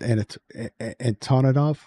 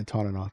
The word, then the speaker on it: Antonov: Probably also it's pronounced Antonov. Yeah, Antonov.